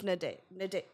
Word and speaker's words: Nadège: Okay, so it's Nadège.